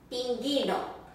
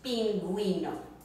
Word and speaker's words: pingüino: No, you'll have these 2 little dots on top of the U, and that is your sign that you do pronounce that, that U. So instead of pinguino, it's pinguino.